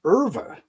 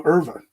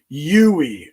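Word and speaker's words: Euwe: This is a Smyslov, and he's playing Erva, a world champion. M. Erva. E-U-W-E. A good friend of mine who played chess with me for a while said it's pronounced Erva. I was calling him Yui, and he goes, "What?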